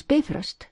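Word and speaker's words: Bifröst: bust layer by layer pronounce bifrust accent on the first syllab always in icelic and thereby to rich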